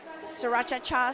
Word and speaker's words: Sriracha: Oh yeah, Sarraacha. Three syllables like 3 I3. Sriracha.